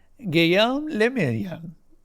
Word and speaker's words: Guillaume le Million: Guillaume le Million. I think I said that right. If it doesn't rhyme, you're not pronouncing it right.